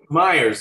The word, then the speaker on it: Myers: And by the way, it's Myers. Is it Myers? Myers, yes. I'll tell you why that is. I'll tell you why that is. I've just interviewed somebody that's called Mayers, and it's spelt the same.